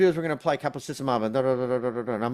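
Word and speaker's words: caplacizumab: we're going to do is we're gonna apply capacissimob." And I'm like, "God, there you go again. You're saying other stuff. I don't know what you're saying." It's pronounced caplacy.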